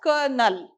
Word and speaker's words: colonel: the spelling spelling is c-o-l-o-n-e-l but how do we pronounce that word we pronounce it as kernel okay so that officer